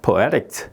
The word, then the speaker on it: poetics: poetics 여기 IC가 있으니까 그 앞에 poetics 예, 이렇게 예, 발음하면 되는 거고 그 다음에 여기 IC가 있으니까 이 앞에 IT에 이제 액센트가 들어가는 거죠.